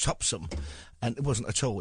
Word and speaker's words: Topsham: there was one in a place called topsham which the locals pronounced topsum and it wasn't at all.